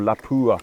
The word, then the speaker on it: Lapua: Or Lapua, as you Americans say. I guess the Finnish people are saying Lapua.